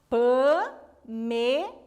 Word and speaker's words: Pamela: Pamela. O Lá é a última, o Me é a penúltima e o Pan é a antepenúltima.